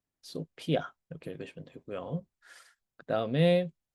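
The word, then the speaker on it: σοφία: 한국어에서 피읍 발음이기 때문에 소피아 이렇게 읽으시면 돼. 네. 소피아 이렇게 읽으시면 되고요.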